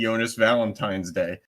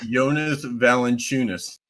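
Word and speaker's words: Jonas Valančiūnas: Jonas, you and Charles Barkley because Charles Barkley just calls him basically Jonas Valentine's Day. Uh, his name is Yonas Valentunis.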